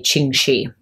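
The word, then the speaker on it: Ching Shih: of Chinese speakers and it sounds more like Chung Shi is kind of how it's probably more properly pronounced, but a lot of times you'll hear Western English speakers say Qing Shi.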